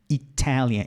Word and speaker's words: Italian: Começa no T. Italian. Italian. Então, você não muda esse som do T aqui.